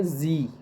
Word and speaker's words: Sie: Like हमारे पास जी, हमारे पास SIE है, तो उसे हम प्रोनाउंस करेंगे जी।